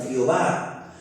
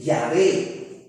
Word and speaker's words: Yahvé: Por ejemplo, lo que para nosotros es una J, para el judío es como una letra muy parecida a la Y. Por eso es que le digo que la forma más probable es decir Yahvé.